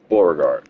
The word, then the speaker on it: Bourgard: be basically stationed in Bourgard. Bourgard. Yeah, that's how you say it.